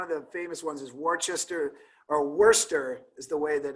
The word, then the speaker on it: Worcester: The famous court, there were a couple decisions handed down, but one of the famous ones is Worcester is the way that it's actually pronounced.